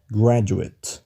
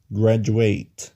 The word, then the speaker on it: graduate: الكلمة دي لو اتنطقت كده graduate تبقى اسم، ولو كده graduate تبقى فعل. ملاحظ الفرق؟ في الاسم المقطع الأخير قلنا بسرعة، قلنا at. اسمع كده graduate. وفي الفعل نفس المقطع الأخير ده مديناه شوية، قلنا ate.